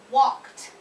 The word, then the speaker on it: walked: So then in those cases, the ED would end in a T sound for pronunciation. So I can give you a couple examples.